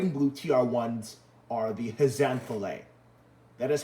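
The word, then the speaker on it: Haze'n-thley: So I'm just saying right now, the black ones are Heisenflay, are Heisenflay and Heisenflay.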